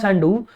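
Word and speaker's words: Sandu: तो बच्चों माया सैंडू, अब याद रखिए बच्चों अगर आप इंडियन है तो हो सकता है आप इसको संधू प्रोनाउंस करें, बट बच्चों संधू नहीं है, सैंडू है।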